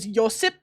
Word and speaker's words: Josip: My favorite one is Josip, because most people in America don't know that J is pronounced as a Y over in, like, the Nordic countries.